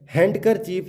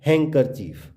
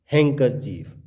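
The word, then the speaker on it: handkerchief: तो रूल बता रहा है कि एन डी प्लस कॉन्सोनेंट, तो डी क्या हो जाएगा? साइलेंट। तो हैंडसम, सैंडविच, ग्रैंड मदर, इसको हम ग्रैंड मदर नहीं बोलेंगे, इसको हम बोलेंगे ग्रैंड मदर। नेक्स्ट, हैंडकरचीफ ना बोल के इसका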